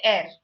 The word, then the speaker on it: ere: is divine okay but that air simply means before so it's not used as an adjective e-r-e okay actually the r is very silent there and okay so it's